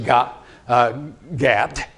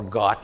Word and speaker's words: Gath: And it finally gets to Megiddo after going through Gat, or Got, as you say, or you might say Gath, because it's spelled Gath in our Bibles.